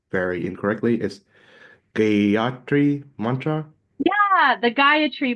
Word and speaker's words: Gayatri: Is Gayatri Mantra? Yeah, the Gayatri Yeah. mantra. Yeah, Gayatri.